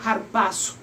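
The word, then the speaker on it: ἁρπάζω: Entonces, está hablando, según 1 Tesalonicenses capítulo 4, versículo 17, que el término correcto es arrebatamiento, el cual se pronuncia en griego harpazo.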